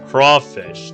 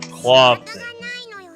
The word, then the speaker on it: crawfish: I already told you, it's crawfish, not clawfish.